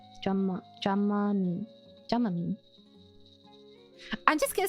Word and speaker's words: Dramamine: Dramamine. With the short A sound for both A's. Dramamine.